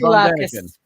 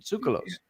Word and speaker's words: Tsoukalos: Sulakis. Yeah, I can't. I'm sorry. What was that, Sarah? Giorgio Sulakis, the one with the hair. Yeah. Troll hair. Giorgio Tsoukalos, he pronounces it. Tsoukalos.